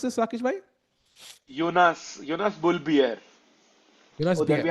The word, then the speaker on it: Bjerre: And यहाँ पे Jonas Bear. How do you pronounce this, Rakesh bhai? Jonas Bull Bjerre.